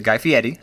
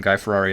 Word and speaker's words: Guy Fieri: a little bit, and they always make sure to pronounce it Guy Fieri, except for when they call him Guy Ferrari at that one point,